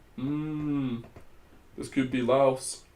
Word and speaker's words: Laos: Getting Laos. This could be Laos. Could be Laos, sorry. Why am I pronouncing the S?